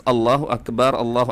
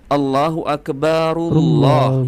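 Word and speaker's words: الله أكبر: Kalian perhatikan huruf ro ya di huruf terakhir lafaz Allahu Akbar itu kan berbaris dah, Teman-teman. Maka kalau dilanjutkan diwasol ya, cara membacanya adalah Allahu Akbarullah ya. Allahu Akbarullah bukan seperti Hanifalatos. Allahu Akbar Allah teman-teman ya.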